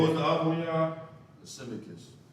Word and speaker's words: Lysimachus: Lysimachus. Spell it.